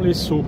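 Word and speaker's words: Lezo: Et moi, direction l'Esso. Alors ça s'écrit L-E-Z-O, mais si je dis les O, je vais me faire engueuler par le professeur.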